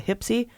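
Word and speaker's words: HPSCI: House and the Senate are called the hypsi and the or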